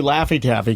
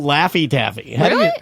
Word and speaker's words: Laffy Taffy: know how you spell Laffy Taffy la FF y TAS FY real it rhymes with taffy gotta spell it like